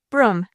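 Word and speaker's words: Brougham: Broom, pronounced the teacher, and I began mentally.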